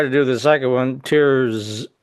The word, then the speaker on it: Tirzepatide: going to try to do the second one, Tirzepatide. How does that pronounce, Steve? You got it. Tirzepatide.